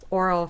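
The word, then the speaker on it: aural: film School Rejects and it is titled oral fixation but that is spelled a r a l you get a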